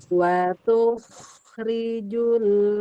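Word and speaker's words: تُخْرِجُ: Tetapi perhatikan jangan bacanya kho-nya dijeda. Jangan tuh rijul itu antara kho, rofo wa kho dengan ro itu kejeda. Jadi rijul hayya. Ya, saya baca ya. tukhrijul hayya minal mayyiti wa tukhrijul mayyita minal hayy.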